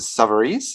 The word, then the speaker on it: Savarese: today we have author mary kay is it sovereigns is that how we pronounce here yes uh and she has written